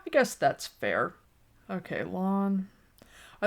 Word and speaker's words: Lan: heard other wheel of time people calling him lan i had changed my pronunciation and then when i heard oh no it's lawn i changed it back operating under the assumption